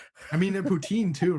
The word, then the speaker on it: poutine: I mean, at Poutine, too, right? That poutine is next level. I mean, of course you're going to Montreal. It's all poutine. And you have to say it correctly. Putin.